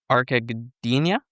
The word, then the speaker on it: Gdynia: Recently joined a new team that is called Arka Gdynia. Did I pronounce that correctly?